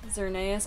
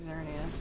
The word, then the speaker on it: Xerneas: externally and surprise renee as if i was called cerneaus i've always pronounced it xerneas but it's a fish